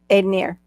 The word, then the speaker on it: Ednir: Aidenier. Like Aidenier. pioneer. Aidenier. Aid. Aidenier. Aidenier. Aidenier. Aidenier. Aidenier. Ooh. Yep. Aidenier. Like a pioneer. Aidonier, pioneer. Yeah, pioneer, Aidenier.